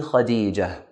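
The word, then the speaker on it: خديجة: Likewise, the word Khadija ends with a ta marbuta, so we end it with a ha sound. Ismi Khadija.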